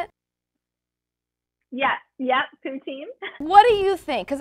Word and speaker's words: poutine: is that how you say it yeah yeah poutine what do you think because i've seen what